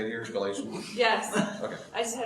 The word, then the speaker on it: Galatians: Galatians?